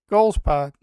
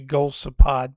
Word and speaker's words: Golisopod: Psychic energy Frogadier Yelp Goomy Don- Donphan Taurus Angie fillet Deoxys Golisopod It's actually Golisopod, but not my best pronunciation.